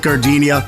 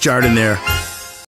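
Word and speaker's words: Giardino: Hey guys, when you're at the counter, don't call it Gardinia. It's pronounced jard in there.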